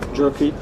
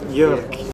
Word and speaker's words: Jyrki: We are here with Jyrki. All pronounce it right, Jyrki. Jyrki.